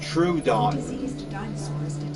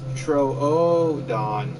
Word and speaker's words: Troodon: O's, two O's, you kind of have to pronounce like kind of like a U. So I kept calling it Troodon. But eventually it's like, no, it's Troodon. Troodon. So I was like, okay, so it's Troodon.